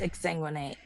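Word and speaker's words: exsanguinate: to ex ex sanguinate is that the right term I think I'm saying it wrong okay uh no it's ex sanguinate you got to exu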